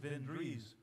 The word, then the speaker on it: Svendrus: I think it's pronounced Svendrus.